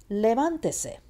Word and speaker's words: levántese: You write an accent on a word if the stressed syllable is 3 or more places from the end of a word.